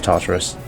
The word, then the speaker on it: Tartarus: Is it Tartarus? How do you spell it? How do you pronounce it? Yeah, it is Tartarus.